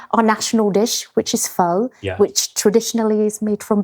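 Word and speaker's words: phở: So you know Vietnamese is tonal, which means one word has 6 meanings, saying it with 6 different tones. Okay. But I think with pho, you have to say it like you're asking me something.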